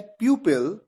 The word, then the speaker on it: pupil: दूसरे वर्ड का उच्चारण है प्यूपिल, इसका मतलब होता है शिष्य।